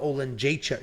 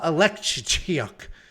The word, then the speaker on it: Oleksiejczuk: Next up, at UFC Singapore, we have Chidi Njokuani, and he is taking on Michal Oleksiejczuk. Nope. That's Joanna Oleksiejczuk. Michał Oleksiejczuk.